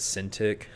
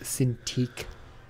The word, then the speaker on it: Cintiq: to buy like a sin tic but like because those are so expensive it's pronounced Cintiq I mean probably my